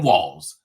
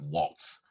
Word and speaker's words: Walz: governor of Minnesota Tim Walls as her running mate by the way it's pronounced walls not Waltz walls Harris introduced walls